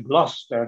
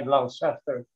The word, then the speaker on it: Gloucester: Gloucester, vejam a pronúncia, é Gloucester, não é Gloucester.